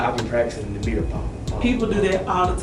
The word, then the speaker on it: Balma: Ladies and gentlemen, Brittney, look, I don't want to mispronounce the last part. So, look, Balma. Brittney Balma, yes. Balma.